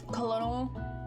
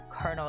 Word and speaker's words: colonel: Colonel. Cole. Colonel. Tell me. Tell me again. That's colonel. Why is it spelled like that?